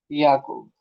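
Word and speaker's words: Jakob: इसको कैसे प्रोनाउंस करोगे जैक अब नहीं बोलना है क्या बोलना है याकूब याकूब याकूब बोलेंगे याकूब बट हिंदी में जैसा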